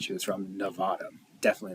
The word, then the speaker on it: Nevada: and we are in Nevada. You know you're from Nevada when you say it, Nevada. And if you hear anyone say it, Nevada, then they're saying it wrong and they're not from here.